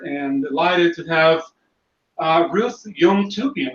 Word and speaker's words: Yomtoubian: Okay, well, today here on Dojo Live, I am honored and delighted to have Ruth Yomtoubian, right? Did I pronounce it correctly, Yeah.